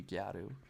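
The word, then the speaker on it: ギャル: It started off as, and just the way they pronounce, because they don't have L's in Japanese, it would be gyaru.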